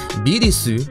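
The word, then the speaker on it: ビルス: Beerus, or his Japanese pronunciation, Birisu, is a pun on the German word for virus.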